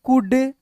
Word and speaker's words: could: है, साइलेंट होता है, जैसे COULD कुड, इसको कुड पढ़ेंगे, कुल्ड नहीं, एल का प्रोनाउंसिएशन यहाँ पे नहीं होता है।